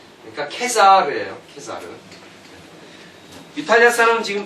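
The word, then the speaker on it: Caesar: 그러니까 케사르지 시저가 아니에요. 그럼 시저는 뭐냐? 뭐겠어요? 영국식 발음이에요.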